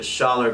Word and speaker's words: Schaller: can learn more about Trust Me, 77, the Schaller Group.